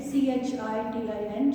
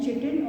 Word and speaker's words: chitin: the name of chitin, C-H-I-T-I-N, chitin, or some people call it as chitin also. So both the pronunciation are right.